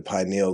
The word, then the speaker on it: pineal: So it gave them another perspective on like the pineal gland and its actual purpose.